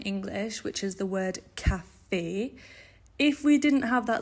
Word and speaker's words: café: So the line above the E tells us that it's not cave, it's café, okay?